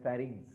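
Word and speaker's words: pharynx: Pronounce it एज फेरिंग्स.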